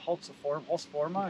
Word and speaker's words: Husqvarna: Now, one thing that I've never run one of the, is it Husqvarna, is that how you say it?